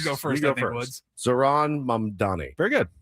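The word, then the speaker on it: Zohran Mamdani: Zaran Mamdani. Very good. Zaran Mamdani.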